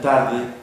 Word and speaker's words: tarde: Tarde tiene la vocal A y luego la E. La sílaba fuerte recae en la A.